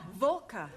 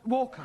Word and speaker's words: Walker: time to write more all this at Mrs Walker is keeping me busy she is a slave drivers at Mrs Walker Walker what w is pronounced what your employer's name is Walker yeah volca do you know how many shots Mrs Volker